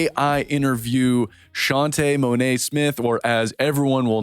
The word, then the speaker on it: Shaunte' Monet: show we are in the stew with shantae monet smith we are here yes he got the